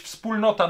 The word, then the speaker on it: Wspólnota: Ktoś mnie ochrzanił ostatnio, że źle to wymawiam, powinno być Wspólnota, no ale nic na to nie poradzę, że jeszcze krakowska spółdzielnia nosiła taką archaiczną nazwę Wspólnota.